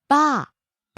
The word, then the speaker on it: バー: Next, バー、 bar, バー、バー、 falling on the second syllable.